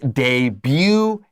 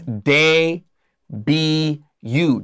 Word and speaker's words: debut: becoming a superstar so the word debut is french and that means its pronunciation is a little weird it's day b you debut debut no t cross out the t hm look at this